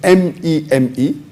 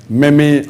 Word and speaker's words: meme: The spelling of the word is M-E-M-E. It's pronounced as meme, M-E-E-M, but the spelling is M-E-M-E. It's not pronounced as meme or meme.